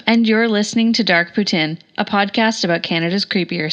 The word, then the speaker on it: poutine: notes and Kyla pronounced Putin correct ly as there these folks are fellow Canadians I happen to be a lazy fellow Canadian who just pronounce it the English way poutine and that brings us